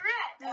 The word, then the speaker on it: Ratte: Spelt with Captain Rat. Rat is his last name, spelled RATTE. Captain Rat.